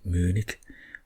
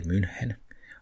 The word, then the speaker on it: München: Maybe they have that Munich, what we say München.